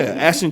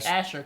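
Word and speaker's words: Asscher: He's saying it wrong, but as long as he knows to say that much, they at the jewelry store will figure it know. out. But it's an Asher cut.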